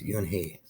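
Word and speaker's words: Unhei: then turned to joey slowly nodded yes it's pronounced you and he and in it means grace mr kim added you and hey joey says slowly this time perfectly it made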